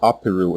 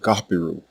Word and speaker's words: Apiru: for the first consonant you will see this normalized as a peru in english because english does not have this letter or its equivalent sound but what it sounded like when native egyptians pronounced it was more like gapiru the long vowel at